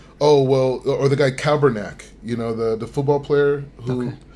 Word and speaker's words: Kaepernick: Oh, Caper, yeah. Did I say his name wrong? I think so. I think it's Kaepernick, something like that, but yeah.